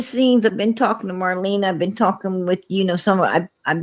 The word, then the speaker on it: Marlena: Why the hell would Andy Bernard care that Marlena, that's actually how you pronounce it, has been living at the Burger King parking lot?